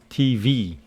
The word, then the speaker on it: TV: And you know that the stress of these contracted words or abbreviations is on the last letter. For example, TV, the stress is on V.